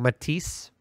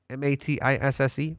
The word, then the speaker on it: Matisse: It is all based on a new architecture that they're calling Matisse, M-A-T-I-S-S-E, Matisse. That's how it sounds like it's pronounced. I could be horribly wrong.